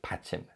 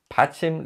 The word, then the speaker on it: 받침: and in Korean the final consonant in a syllable is called patching patching literally means support and it's always positioned beneath